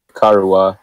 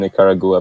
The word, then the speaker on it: Nicaragua: Nicaragua, I think that's how you say it. I was saying Nicaragua, but apparently that's wrong.